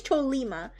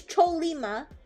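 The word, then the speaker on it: Chollima: Is it pronounced choyima? Oh, it's a mythological horse. Okay, so it is choleima. It's choleima.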